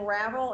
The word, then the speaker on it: Ravel: As I said, her name rhymes with her name is Ann Ravel. It rhymes with unravel.